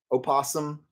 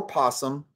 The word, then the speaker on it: opossum: So in North America, and certainly in our Western English, it is permissible to say opossum or possum either way, and you can spell